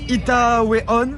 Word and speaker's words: Itaewon: Bon, les amis, on est dans le quartier Itaewon, sous suggestion de Lou.